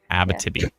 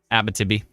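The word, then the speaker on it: Abitibi: help me hi what do you want to pronounce or ABV ab ab I got to think about AB like ABA ABA Tibi ABA Tibi yeah if you're anywhere near ABA Tibi right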